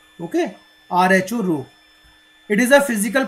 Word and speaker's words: rho: This is the Greek letter that is pronounced as rho. Okay, RHO, rho.